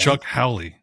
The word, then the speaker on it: Chuck Howley: No, it's not Charles Haley. Chuck Howley.